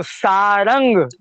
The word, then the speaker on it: सारंग: धनुष का नाम है इसका शुद्ध हिंदी में उच्चारण करेंगे तो सारंग है ना सारंग सारंग धनुष